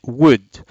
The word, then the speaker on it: would: do not say would l here is a silent letter so we say would and it's not world for example look at